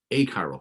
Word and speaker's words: achiral: compound that's a-c-h-i-r-a-l okay so occasionally if you're talking too fast you'll say hey this is a chiral carbon or this is an achiral carbon so be careful how you say it sometimes i'll say